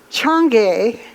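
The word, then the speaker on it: Chang'e: about and when I checked it out it's pronounced Chung gay and and it is the moon goddess now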